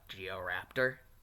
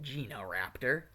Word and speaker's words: Genoraptor: out other stuff about Georaptor and that that's just kind of how Naruto pronounces it. It's actually supposed to be pronounced Genoraptor. There's supposed to be an N in there.